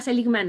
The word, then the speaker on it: Seligman: ¿Estoy Martin pronunciando bien? Seligman.